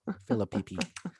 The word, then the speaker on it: Phillippe: picky philip philippe ryan phillippe i like i like yours more that's what he is i mean you gotta pronounce both p's phillippe um they're returning too